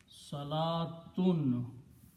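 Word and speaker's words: صلاة: this waw is written, sometimes this waw is not written. It is not pronounced. It's not part of the word. Okay? You will also see another place. It is written this way. Salatun, pronunciation is same, salatun.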